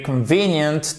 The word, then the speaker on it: convenient: This is a very convenient time. Mais là, je voulais aussi enrichir votre vocabulaire avec a very convenient time. Convenient, accent tonique ici, d'accord?